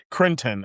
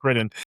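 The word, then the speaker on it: Cretton: But Crinton, actually, I said his name wrong. Critton? Daniel Destin Critton.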